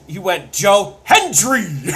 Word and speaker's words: Hendry: Cole has taken to overpronouncing the D in Hendry's name because he could not fucking pronounce it for a calendar year. He would call him Joe Henry every single goddamn time.